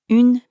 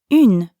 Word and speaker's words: un: word scene but then round your lips forward like you're blowing a kiss so in becomes scene